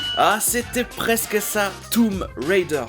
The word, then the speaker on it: Tomb Raider: Mais je pense que c'est Tomb Raider. Ah, c'était presque ça, Tomb Raider. Le B ne se prononce pas. Tomb Raider.